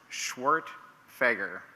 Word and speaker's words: Schwerdtfeger: who might be curious my last name is pronounced schwart fager come on you guys